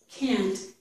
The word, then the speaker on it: can't: Now, we don't really pronounce this T. We don't give it a full pronunciation.